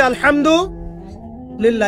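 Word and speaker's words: الحمد لله: এখানে হা কি? হা বড় হা না ছোট হা? হায়ে কে বললো ছোট হা? হায়ে হাওয়াস না হায়ে হুত্তি, কোনটা? হ্যাঁ বলো। হ্যাঁ, মাশাআল্লাহ। উচ্চারণ মাখরাজ কোথায় বলো? এই যে মাশাআল্লাহ, একদম গলার কোথায়? মাঝখানে।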